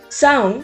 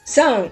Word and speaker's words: Samhain: Sound is actually pronounced as sound or sound, but what does it mean?